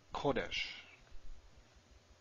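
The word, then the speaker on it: קודש: fine that's a cigarette now how about kodesh and again we have stress in the first syllable and we have a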